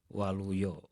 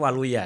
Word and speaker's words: Waluyo: dari orang tua saya, Waluyo. Waluyo itu sebenarnya kalau ejaannya dulu A gitu ya, tapi karena orang tua saya ini Serdadu, jadi ya ditulis menjadi O, jadi Waluyo. Sebenarnya Waluya kalau di Sunda gitu.